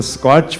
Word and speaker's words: SKOCH: if you think of k is silent in fact one of the vertical things about the k is missing it's more a search